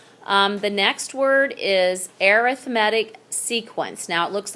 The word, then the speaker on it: arithmetic: we get started um the next word is arithmetic sequence now it looks like arithmetic which it is pronounced that way but when you add sequence with it it's arithmetic sequence it's a list in which you add